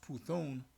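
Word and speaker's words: Πύθων: So Apostle Har went into the word divination, and it's pronounced Puthon, but the transliteration is Python.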